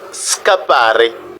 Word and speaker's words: scappare: Vous voyez, quand le S plus C précède A, par exemple, nous avons le son ska. Par exemple, scappare, échapper, scappare.